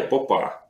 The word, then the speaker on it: Попа: Ну, вообще-то, как бы, если правильно ставить ударение, Попа.